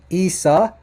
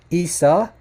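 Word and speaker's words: عيسى: Esa not or Isa listen carefully to the pronunciation it would have to be now this will be Isa Isa and and it's not Risa listen to that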